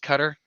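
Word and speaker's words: Qatar: experience together but come 2026 uh yeah it's pronounced cutter q-a-t-a-r um that was not a misspelling or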